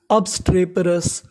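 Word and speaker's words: obstreperous: अब्स trap पेरस अबस्ट्रेपरस।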